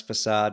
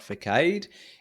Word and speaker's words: facade: third one facade uh so pronounce facade not Forcade is really the front